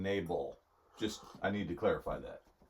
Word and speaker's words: Nabal: By the way, he's not saying navel. He's saying Nabal.